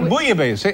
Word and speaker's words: bouillabaisse: What bouillabaisse? Is how it's pronounced?